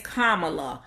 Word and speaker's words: Kamala: kamala her name is kamala like the punctuation mark comma law that's how you say her name so if anybody has